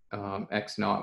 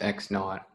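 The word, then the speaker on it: x₀: squared equal to one at the point x x naught y naught that's how you say uh x with the subscript zero is pronounced x it's pronounced x naught is x naught times x over a squared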